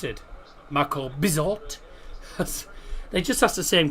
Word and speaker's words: Bizot: Unai Emery saying Marco Bizzo wasn't dull. Unai Emery saying Marco Bizzo wasn't dull. Oh, he'll have had fun trying to pronounce it. Marco Bizot.